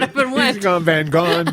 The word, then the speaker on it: Van Gogh: Van Go. Actually, that is that is the correct pronunciation.